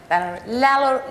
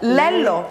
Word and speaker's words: Lello: Lello, how do you say that? Lello.